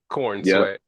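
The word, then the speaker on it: Corenswet: Corn sweat. Corn sweat. Well, it's spelled C O R N. Uh C O R E N S E W T. So it's like corn sweat.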